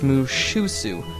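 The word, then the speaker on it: Mushussu: I'm pronouncing it wrong. It's Mushusu. It's the other way around.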